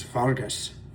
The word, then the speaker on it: Vargas: Vargas, that's how you say it in in Switzerland is Vargas.